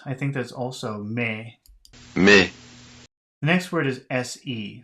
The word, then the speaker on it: mais: Next word is M-A-I-S. That's like P-A-I-X, so that should be me. Mais. Me. Next word is M-E-S. I think that's also me. Mais.